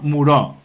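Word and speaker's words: Moreau: A illa do doutor Muró, ou se lemos como se escribe, sairíanos unha película dun galego que sería A illa do doutor Moure.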